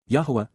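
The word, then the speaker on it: Yahweh: Yahwa Yahwa God's personal and proper name pronounced.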